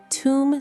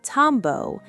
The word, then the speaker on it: tomb: Notice that the letter B at the end is completely silent. You don't say tombo, and you don't say tumbe.